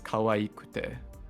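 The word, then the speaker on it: かわいくて: the e sound, but because there's 2 e's in kawaii, it is kawaikute and not kawakute.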